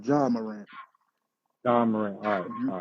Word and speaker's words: Ja Morant: Jay Morant, No, it's Ja Morant.